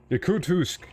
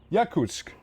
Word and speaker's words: Yakutsk: Yakutsk. Yeah. Oh, yeah. Yakutsk. Yeah, that place. Yeah, that's the one. Just completely butchered the pronunciation first time around, but yeah.